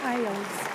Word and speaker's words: Isles: Pronounced Isles.